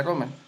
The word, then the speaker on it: Rommel: Así se pronuncia, Romer.